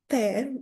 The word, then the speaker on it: tear: So the first tear pronounced tear means the drop of liquid that comes from your eye when you cry. And the second tear pronounced tear means to rip or to break something.